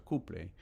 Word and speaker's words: Copley: próspero granjero llamado Leman Cupley, Copley se escribe en español, se pronuncia Cupley, se unió al a